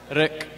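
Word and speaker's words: riq: Rik. Rik, there you go. Just like Rick, but not Rick. Yeah, it's like a heavy like K.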